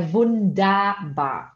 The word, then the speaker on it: Wunderbar: Então aqui, som de ER. É som de A, então é Wunderbar, tá?